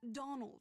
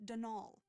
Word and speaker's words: Donal: caretaker danal delaney not donald mind you there's no d at the end so it's pronounced denal that's the way you're